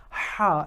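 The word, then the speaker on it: ح: comes from the chest but this ha it's coming from the throat and inshallah we're going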